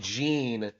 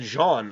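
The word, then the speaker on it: Jeanne: was for Bayonetta and Gene and Jean I should say excuse me uh Jean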